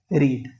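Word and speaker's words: read: डिड से रीड। गॉट इट? रीड की तीनों फॉर्म सेम होती है। बट जो इसको हम प्रोनाउंस करते हैं जैसे रीड रेड रेड होता है।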